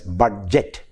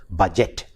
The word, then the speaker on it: budget: I told you the best example is that of budget. We Malayalis tend to pronounce the word as budget, whereas the correct pronunciation is without the d sound, budget.